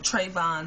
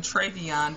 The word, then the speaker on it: Trayvon: going on with um trayvon martin i am so sorry um to the family and the friends um you guys that i've been getting his name wrong i've been calling him treyvion but i love the